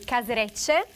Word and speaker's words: Caserecce: I want you to pronounce it. In Italian? Yes. In Italian will be Caserecce, con scampi, asparagi e capperi.